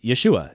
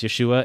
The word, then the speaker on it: Yeshua: So for example, Jesus' name was not Jesus. It was Yeshua. And since we can easily pronounce Yeshua and that was his name, I typically try to stick with that.